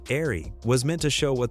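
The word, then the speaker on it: Eahry: Designed as a design forward evolution of the Eagle Vision sedan, the airy, pronounced airy, was meant to show what the future of the Eagle brand could look like.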